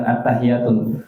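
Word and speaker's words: التحيات: Nah, yang ini yang banyak hilang nih tasydid yang di sini. Jadi dibacanya kayak hannya sukun. Atttahiyatun berubah. Attahiyatul. Padahal yang benar attahiyatulah. Attahiyatu bukan attahiyatu.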